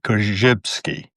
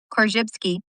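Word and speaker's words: Korzybski: Kjypsky. Nailed it. Kjypsky.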